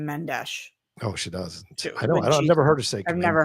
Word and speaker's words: Mendes: Menddees is Brazilena, so it's pronounced Menesh, not Spanish. Obligado. I'm going to come find you. And we're gonna have a conversation. Camila doesn't pronounce her last name. Mendesh.